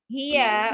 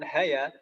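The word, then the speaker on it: هي: Ini bacanya huwa dan hiya Ibu-ibu ya. Bukan hawa dan haya.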